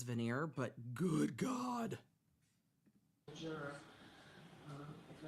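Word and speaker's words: voir dire: know but I think veneer is the proper pronunciation but it is a regional difference some jurisdictions you see people saying vanir and I think it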